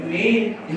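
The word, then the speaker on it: من: Man anta, man anta, min aina anta, ya, ma ismuka. Kalau orang Arab bukan man, dia min, min. Beda dikit.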